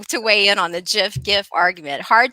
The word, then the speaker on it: GIF: that our announcer friend said it with a soft g instead of a hard g everybody knows it's pronounced gif but i guess i